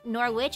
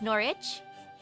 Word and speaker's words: Norwich: City oh no oh the W and and this is silent so instead of Norwich it's norich silent W that's a first or